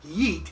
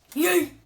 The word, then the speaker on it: yeet: It's not yeet, it's yeet.